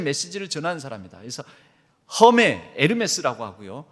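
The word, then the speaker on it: Hermès: 말 하면요 하에는 헤르메스 명품 브랜드 중에 에르메스가 있어요 에르메스 브랜드의는 무음입니다 그래서이 에 헤르메스 에르메스를 그대로로 이렇게 가거든요 그거를 그냥 허 이렇게 하게 되면 허메 이런 식으로 번역 발음이 될 수도 있습니다 그 에르메스라고 바울 보고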